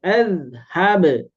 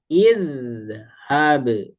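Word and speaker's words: اِذْهَبْ: Kemudian azhab. Azhab apakah ini az, id atau ud. Nah, karena huruf ketiganya fathah maka alifnya diberi harakat kasrah. Jadi, idhab.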